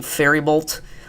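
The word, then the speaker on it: Faribault: Eventually going to be approaching Fairybolt. I just realized it's pronounced Fairybolt, not Fairbolt like I've been saying. The I is after the R.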